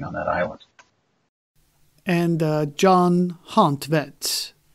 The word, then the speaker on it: Hontvedt: And John Hontvedt, that's how it's pronounced? I say Hontvedt. I mean, I'm sure that somebody could pronounce it better.